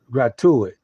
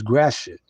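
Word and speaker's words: Gratiot: he mentioned the word gratuit the actual pronouncing pronounciation of the word is graet and Lafayette that's the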